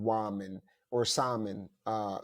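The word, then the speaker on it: Samhain: was called wman or Salon uh Salon s it's pronounced s o sa s o w i n is what it's pronounced but it was mainly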